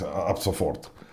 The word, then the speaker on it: ab sofort: Y Schabowski le contesta ab sofort, que significa de inmediato. No lo he pronunciado pésimo, pero en alemán es ab sofort, de inmediato.